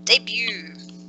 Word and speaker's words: debut: about this part ah debut okay this is obviously a word that English is taken from another language because you can see that we don't pronounce the T in it yes it's French does anyone know what